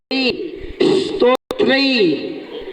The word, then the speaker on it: स्तोत्र: में विसर्ग भी लगा हुआ है तो नाथ स्तोत्र सा का उच्चारण करते हैं तो सा को केवल स्तत्र